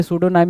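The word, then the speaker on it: pseudonym: तो यहाँ पे सूडोनाइम में पी आपका स्टार्टिंग पॉइंटर होता है, पी से स्टार्ट होता है, बट पी क्या है, जैसे साइकोलॉजी है, पी से स्टार्ट होता है, लेकिन क्या है भाई, जो हम रिप्रोनाउंस करते हैं वो एस से करते हैं, तो पी यहाँ पे नहीं होना था, पी काट देंगे।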